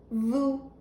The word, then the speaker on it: vous: And it's vous. Do you hear the ooh sound in the center? Vous. Don't forget, don't say the S.